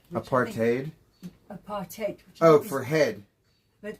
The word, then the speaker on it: apartheid: You know, in South Africa, it's pronounced aparate. Apartate.